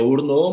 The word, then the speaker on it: Hourneaux: Meu sobrenome, ele se pronuncia Urnô, mas escreve-se Orneaux. A partir dali, tem já um acesso direto ao meu WhatsApp.